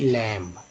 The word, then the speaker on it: lamb: तो B silent हो गया, उच्चारण क्या किया गया इसका, शुद्ध लैम।